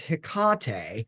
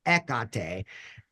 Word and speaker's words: Hecate: So for the very first time, my literature teacher says Hecate, which is closest to the actual Greek pronunciation, which is Ekate.